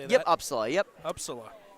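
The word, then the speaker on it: Upsala: Yep, Uppsala.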